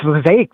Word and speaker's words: Lake: real quick I say my name's Lake this time it rhymes with snake I'm going around the